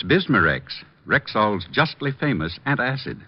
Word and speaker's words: Bismarex: Is that how you say it? That's right, ma'am. B I S M A R E X.